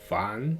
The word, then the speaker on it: 反: 중국어 발음은 보니까 판 이렇게 발음하네요.